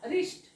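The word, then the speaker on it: wrist: आता इथून पुढे तुम्ही रिस्ट वॉच मधलं डब्ल्यू एच स्पेलिंग सुरुवात कराल कधीच आरणी करणार नाहीत कारण तिथे डब्ल्यू सायलेंट असतो म्हणून तुम्हाला रिस्ट स्पेलिंग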